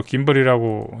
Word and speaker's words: gimbal: 중간중간 짐벌이 아니고 김벌이라고 읽고 있죠.